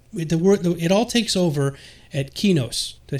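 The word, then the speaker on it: Qeynos: Okay, so I've always pronounced it Quenos. I always pronounce it Quenos too, but people beat me up because it's Sony EQ backwards. So I'm like trying to pronounce it the right way, saying Sony EQ Quenos, Kinos, whatever.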